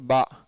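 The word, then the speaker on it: باء: உருதுலேயுமே அலிஃப் பா பா டா டா அந்த மாதிரி பல உச்சரிப்புகள் இருக்குது. அந்த அடிப்படையில் பாவும் இருக்குது, பாவும் இருக்குது, பேயும் இருக்குது, பேயும் இருக்குது.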